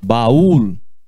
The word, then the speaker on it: baúl: A mesma coisa vale para essa segunda palavra. É como escreve baú em espanhol. Se diz baúl. Vou ia comprar um baúl. Você não percebe que é sílaba separada?